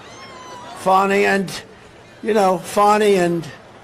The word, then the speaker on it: Fani: funny it's spelled Fanny it's spelled Fanny like your ass right Fanny but when she became da she decided to add a little French a little fny fonny and you know fonny